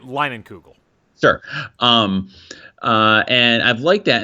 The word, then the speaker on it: Leinenkugel: Summer Shandy, especially the is it Langenkugel? Is that how you pronounce it? I'm not from the Midwest. Leinenkugel.